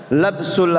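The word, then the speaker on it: لبس: Dibacanya lamnya dengan apa? Maftuhah, labsu. Kalau dibaca lubsu artinya apa? Memakai pakaian itu. Lubsu siap itu pakai lam yang madmumah, lubsu. Kalau labsu itu mencampur.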